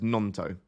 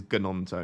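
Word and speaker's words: Gnonto: Don't pronounce the G, so it's Nonto. Okay, I thought it was like a soft G. Or anyway, I'll call him Nonto if we prefer. What I won't be calling him is Ganonto, because that would sound terrible.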